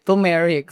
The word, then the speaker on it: turmeric: Turmeric o sabi nga ni Doc ang tamang pronounce daw ay teric.